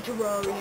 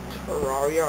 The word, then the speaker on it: Terraria: We should start playing Terraria instead. Terraria or Terraria? It can be pronounced either. Yeah, but only noobs pronounce it Terraria.